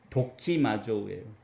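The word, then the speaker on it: δοκιμάζω: 재밌는이 발음 그리스어 그 원어의 발음 자체가 재밌어요 도키마주 저는이 단어를 학교 다닐 때 외울 때 도끼라고 독기를 연상시켜서였어요 독치마족은 뭐냐면 아주 자세하게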